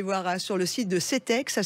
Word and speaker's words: CTEK: Eh ben super, bon anniversaire à Belle Santirso et surtout CETEC qui fête ses 25 ans cette année.